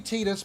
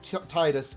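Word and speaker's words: Tidus: him titus titus because even though it's supposed to be tinus by a vast majority of the final fantasy fans and final fantasy lore i still say squaresoft has no idea how to actually pronounce it because even they got it wrong selfie calls him titus in kingdom hearts 2.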